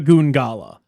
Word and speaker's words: Goongala: Goongala. I had to make sure I was not like, you know, pronouncing it wrong or something of that.